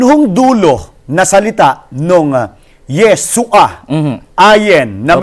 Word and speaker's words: Yeshua: meron pong furtive pata sa ilalim. Opo. Guhit yung Opo. ayen. Opo. Kaya yung pong ayen doon ay hindi ho pinopronounce. Ang tawag ho doon ay guttural or silent letter. Opo. Kaya yung furtive pata, kaya kaya Opo. Yeshua. Hindi ho, isa kanya, Yahshua Yahshua. Kaya katunog nung miswa eh.